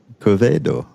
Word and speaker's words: Quevedo: Hi everyone, it's Raghu again with Mindrolling, and I'm with a new friend, and his name is Quevedo. Is that good? My pronunciation on that? Absolutely Quevedo?